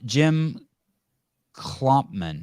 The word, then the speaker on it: Jim Klopman: for everyone so thank you thank you um Jim klumpman did I say it right yep all right